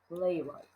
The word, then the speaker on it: playwright: is gives the word playwright and remember that the W here in the middle is silent you don't say it playwright someone who writes a